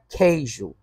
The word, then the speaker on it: queijo: Porque o U não está sendo pronunciado.